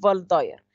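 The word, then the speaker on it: Waldeyer: يبقى فاشيا اوف فالداير، يبقى انا قدامي فاشيا اوف دينونفير، ورايا فاشيا اوف فالداير، فالدايرز فاشيا طبعا عشان هو ايه الماني، فالدبليو دي بتتنطق في ماشي الكلام.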